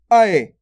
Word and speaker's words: ऐ: उसके बाद आता है अपने अय। अब दोस्तों इसके उच्चारण में थोड़ा जोर लग रहा है। यहाँ पे देखो अय, अय करके हो रहा है, यानी कि ऐनक।